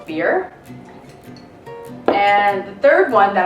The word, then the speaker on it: Byrrh: this this is beer looks like bird but it's pronounced beer and the third one